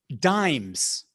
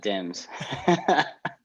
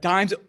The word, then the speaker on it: DIMES: Or are you pronouncing it dimes and not dims? I bought a vowel. I bought a vowel. I didn't get paid yet, so I'm not giving you the vowel. I think dimes, I'll have to find